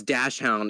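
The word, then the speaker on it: Dachshund: Oh, it's Dashhound is how it's said. Uh Dashhound is German. Uh it means badger dog.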